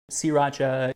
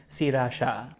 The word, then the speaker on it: Sriracha: Sriracha, Sriracha, emphasis on different syllables. Sriracha or Sriracha. Excuse me, are you okay? Do you need a cough drop? Hipster ketchup, rooster sauce, cock sauce. I say Sriracha.